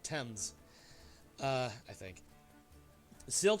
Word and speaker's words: Thames: overlooking the Thames River I may have mispronounced the Thames that's that's the better way to say it Thames uh I think the